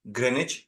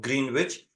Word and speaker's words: Greenwich: interested in visiting Grenich and yes it is pronounced Grenich not green witch I learned it on YouTube and I hope